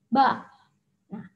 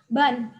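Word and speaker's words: 반: Bacanya adalah ba. Nah, tapi di sini kita mau membuat kata ban.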